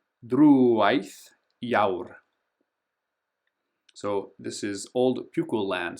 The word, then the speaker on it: Drúwaith Iaur: This one's tricky, so notice we've got the accent, so we're going to make that longer. Drúwaith Iaur.